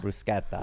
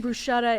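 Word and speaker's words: bruschetta: yeah it's rolta yeah brusketta yeah exactly yeah not brusett so if they're saying brushetta and rata I'm out I'm out you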